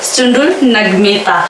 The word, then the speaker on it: चुंडुल नग्मेता: चुंडुल नग्मेता आज हम लोग प्रॉपरली उच्चारण करने का कोशिश करेंगे। इसका उच्चारण ग होता है, आप सभी को मैं बताई हूँ, इसका उच्चारण ग होता है अंगा का।